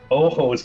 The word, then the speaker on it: ojos: Ojos, but you pronounce the J.